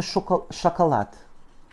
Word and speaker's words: шоколад: Avec le A premier et le dernier qui se prononcent comme des petits E. Это шоколад.